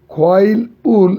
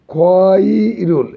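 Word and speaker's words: 과일을: Dash এসো খোয়াইল উল সাচ্ছয়, খোয়াইল উল একসাথে উচ্চারণ করলে হবে খোয়াইরুল, এই ল উপরে চলে যাবে, খয়রুল সাচ্ছয়।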